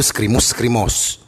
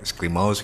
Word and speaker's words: Screamous: Ya, seperti diketahui Skrimus, bacanya itu Skrimus. Asik kayak orang banyak biar bener ya. Spelling orang banyak yang Skrimos gitu, ada yang Skrimus gitu. Skrimus. Kalau gue pribadi dan anak-anak di sini Skrimus ya.